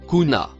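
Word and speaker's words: كنا: Le mot en bleu foncé se prononce kuna.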